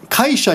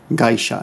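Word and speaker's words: 会社: nearby, denki setsubi gaisha, denki setsubi kaisha usually, but because it's paired with other kanji, the pronunciation changes from K to G, gaisha.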